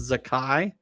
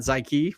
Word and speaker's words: Zakai: And yes, Kirby pointed out that it is pronounced Zakai, not Zyke, which is what a lot of people said.